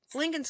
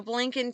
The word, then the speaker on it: Blinken: You know, Blinken, too bad his name rhymes with Lincoln.